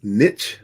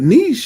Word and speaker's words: niche: Predominantly in the US, we use niche, rhyming with pitch. But niche is actually French.